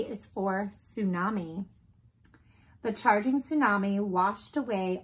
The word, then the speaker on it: tsunami: imaginary Isle of new Arkansas t is for tsunami the charging tsunami washed away all of Tchaikovsky's